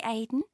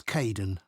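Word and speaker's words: Kaeden: Hi Aiden. Uh, it's Kaden.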